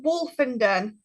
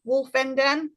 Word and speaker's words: Woolfenden: Uh, so Wolf and Denon. So think of Wolf in Den. Wolfenden. That's kind of how you say it.